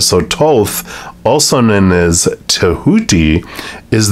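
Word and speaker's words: Thoth: book here there it is so it's actually pronounced Toth not I guess the H one of H is a silent so Toth also known as tahudi is the ancient Egyptian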